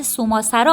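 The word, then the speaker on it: صومعه‌سرا: مردم گیلان نیز به همان صورت سوسرا آن را تلفظ می‌کنند.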